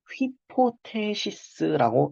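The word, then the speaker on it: ὑπόθεσις: 모든 입실론을 모든 제 정확히 말하면 모든 실론으로 시작하는 단어는 무조건 거친 수표가 들어가요 즉 다시 말해서 모든 실론으로 시작하는 나는 무조건 휘로 시작한다는 거예요 예시 단어를 하나 보여 드릴게요 뭐 라고 읽겠어요 히포시스 읽는 거죠 히포시스 이렇게 읽는 건데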